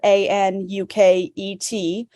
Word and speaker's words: Anuket: And I should mention Anuket, well, it's spelled Anuket. Anuket is the Egyptian goddess of the Nile River.